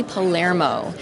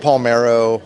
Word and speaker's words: Palermo: And I am here with Tony Palermo from Papa Roach. Epic! Thank you for Hi, pronouncing Tony. my last name correctly. Oh, my gosh. Yeah. Thank you. I get Palmero.